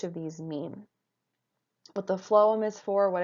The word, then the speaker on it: phloem: Two funny words, but that really is how they're pronounced, xylem and phloem.